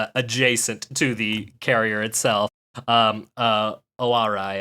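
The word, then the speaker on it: Ōarai: Right, but the town that it's the seaside town that is adjacent to the carrier itself, Owarai, I believe is how you pronounce it, has hilarious.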